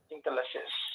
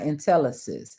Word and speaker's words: Intel Assist: Intel assist. Not Intellis. Intel assist. Two different words. So Intel assist, right? Is that accurate information? Intel Assist.